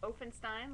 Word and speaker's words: Ofenstein: my name is ofenstein um it's a long o openstein like frankenstein uh my username on